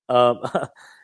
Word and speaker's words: Tagovailoa: Tagovailoa, for one, not Tag. I know it's T-A, but it's pronounced Tagovailoa.